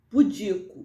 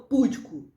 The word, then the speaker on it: pudico: Pudico, não púdico.